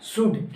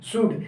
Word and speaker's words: should: मतलब एल का यहाँ कोई औकात नहीं है जो एल बोल देगा। ठीक है, तो यानी देखो लिखेंगे सूल्ड, लिखेंगे सूल्ड, बट रीड दिस ऑफ। क्या पढ़ना है? सूड। क्या पढ़ेंगे? सूड।